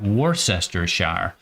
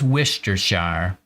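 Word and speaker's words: Worcestershire: Clearly, clearly it's spelled like warcestershire, but the dictionary says wistershshire and so I accept that.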